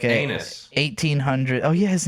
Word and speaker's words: Aeneas: It was like a Anus. 1800. Oh yeah, his name was Anus like coffee. his name was Anus, spelled like AENEAS or something Shade, you're like about to that.